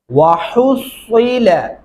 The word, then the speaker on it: وَحُصِّلَ: یہاں پہ دھیان رکھنا ہے تلفظ کا، صاد کو صاد کی جگہ سے ادا کرنا ہے اور بریک ہا کو بریک ہا کی جگہ سے ہی ادائیگی کرنی ہے۔ وَحُصِّلَ ایسا نہیں پڑھنا،